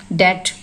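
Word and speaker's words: debt: डेट, B silent है।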